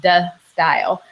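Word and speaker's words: De Stijl: But I wrote the pronunciation in the in parentheses, de style, and it's basically just de style. But you can say it with a little accent if you want to try.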